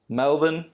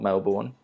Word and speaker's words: Melbourne: so your options are melvin pronounced correctly not melbourne auckland sydney or perth there's